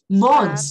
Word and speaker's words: months: Months. Ah, tá. Months. Eu não pronuncio o TH.